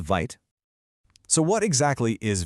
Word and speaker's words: Vite: And that tool, as you probably guessed, is called Vite. So, what exactly is VIT? First off, it's pronounced VIT. It's actually the French word for quick, which is perfect.